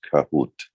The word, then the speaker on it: Kahoot: a fun exercise any questions it's uh it's pronounced kahoot who twisted right yeah okay good to know